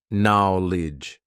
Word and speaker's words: knowledge: So many useless letters in terms of our pronunciation. Right? Let's see what happens when we backchain it and when we write it phonetically. Are you ready? Li, there's only two parts now. Knowledge. There are only two parts really to the sound of this word, the pronunciation of this word. Li now lodge.